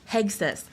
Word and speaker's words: Hegseth: May I ask, Hegseth is it pronounced "Hegseth" or "Hesseth"? Hegseth.